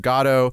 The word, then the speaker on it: Godot: Godot throughout instead of Godot. Yeah, you can say it both Godot ways. used to be the British pronunciation, whereas Godot is the American pronunciation.